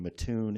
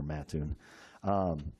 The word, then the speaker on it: Mattoon: We've got a packet that shows a facility in Mattoon, Illinois. Sorry for the mispronunciation there, Mattoon.